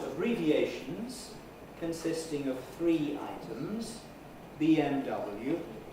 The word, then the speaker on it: BMW: consisting of three items bmw we tend to put an accent on the first and the last of the three items but not on the middle one so every time we